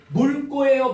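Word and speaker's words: 묽고: 물고예요, 묵고예요? 물고. 왜요? 기억 왔으니까.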